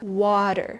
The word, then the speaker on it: water: But in natural speech, it sounds like water. Can you try? Water. Okay? So, the T in the middle softened into a D sound.